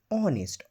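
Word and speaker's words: honest: না, এই অনেস্ট মানে ওয়ার্ডটা কনসোনেন্ট দিয়ে শুরু, কিন্তু এর আগে অ্যান বসেছে, কারণ এখানে এইজের প্রোনাউন্সিয়েশনটা সাইলেন্ট আছে। অনেস্ট, ওর মতো উচ্চারণ হচ্ছে অনেস্ট, তাই এর আগে অ্যান বসেছে, অ্যান অনেস্ট।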